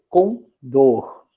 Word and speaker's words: condor: Então, o correto aqui seria condor, tá? O som correto aqui é da última sílaba e não da penúltima, beleza?